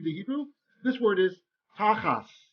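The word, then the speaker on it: תחת: Hebrew, this word is tachas. Whenever you have a tav without a dagesh, we pronounce it like an S.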